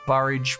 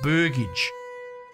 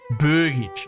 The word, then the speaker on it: burgage: their produce to the barage plots but burgage burgage like a burger I get it I've